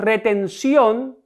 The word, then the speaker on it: retención: Tenemos retención. La sílaba tónica de esta palabra es la última sílaba. Sion, por tanto, es una aguda.